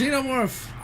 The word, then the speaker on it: xenomorph: It's pronounced xenomorph. Stop pronouncing it wrong.